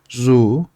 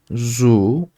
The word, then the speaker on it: zoo: bir hatırlatma daha yapalım 2 o yan yana geldiğinde u şeklinde okunuyor zu zu uyu uzatıyorsunuz arkadaşlar Mall Shopping Mall veya